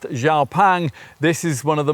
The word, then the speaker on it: XPeng: Spelled Xpang, but pronounced Xiao Pang, this is one of the more serious sort.